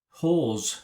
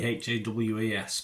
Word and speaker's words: Hawes: A 12A certificate, directed by James Hawes. Is that how you pronounce it? I think you pronounce it another way, Hawas, but anyway, Hawes. The Amateur we're looking at today, yes, written by Ken Nolan and Gary Spinelli.